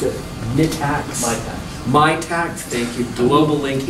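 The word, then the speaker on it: Mitacs: Is that how you pronounce it? MITAX.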